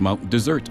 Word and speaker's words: Mount Desert: From the air, here is Mount Desert Island, however pronounced by the locals, Mount Desert Island.